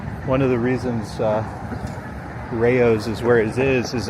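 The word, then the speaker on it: Rayo's: the Rayo sauce after this that's how it's pronounced Rayos Rayos all right two more blocks and we'll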